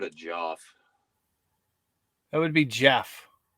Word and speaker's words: Geoff: That would be Jeff.